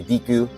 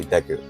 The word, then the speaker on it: Deku: Some people say Deku, I say Deku, right? So I base it off of the Japanese pronunciation.